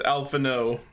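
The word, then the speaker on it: Alphinaud: even the name oh open on alphano it's alphano yeah i pronounced it right the first time you pronounced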